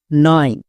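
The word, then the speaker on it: knife: কে, কে এর জন্য কো, না, কো হবে না। কেন? কারণ আমরা সাইলেন্ট লেটার এর ক্লাসে দেখেছি কে এর পরে যদি এন থাকে তখন কে সাইলেন্ট থাকে, মানে কে এর উচ্চারণ করতে হয় না।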